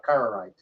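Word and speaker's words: Karaite: he was talking about it's spelled by the way k a r a i t you're pronouncing it carerite or car yeah carite yeah correct I think that's correct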